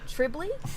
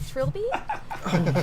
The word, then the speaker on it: Trilby: they kept mispronouncing the main character's name as Tribley instead of Trilby, and Oh.